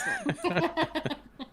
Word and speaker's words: Haarsma: pronounce. Haarsma. Yeah, I see. I was like, what the hell are you spelling? That doesn't spell. Lols. Haarsma.